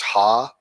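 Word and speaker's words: ห้า: guys don't know five55 when you pronounce five in Thailand it's ha like no song s see ha haaha so when you see 555 it's a hahaa H all right guys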